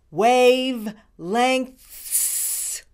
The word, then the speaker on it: wavelengths: you do it wave length you do it wave lengths thank you for watching this speech tip video